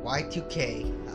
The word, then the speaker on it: YIIK: - waiting oh there it is they pronounced it if breath here it is y2k a postmodern RPG but for now and forever